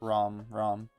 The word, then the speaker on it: Rom: In the actual pronunciation, you call it Rom.